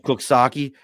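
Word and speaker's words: Coxsackie: looks just like saki it's pronounced Kaki it looks like saki though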